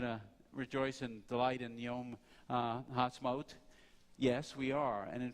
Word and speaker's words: Ha'atzmaut: Yom Ha'atzmaut, not Maut, Maut.